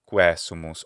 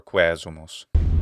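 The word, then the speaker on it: quaesumus: So she has the stress in the wrong place. It's quesumus or quesumus. Visita, quas sumus Domine.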